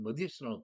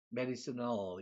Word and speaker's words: medicinal: for traditional construction 전통적인 집을 짓는다지 하는 그런 건축 건설에 gather honey and medicinal plants medicine 의학이라는 뜻이죠. 근데 의학 의술 약이라는 뜻이 됩니다. 그거의 형용사는 medicinal 이게 아니라 medicinal 발음이 달라집니다.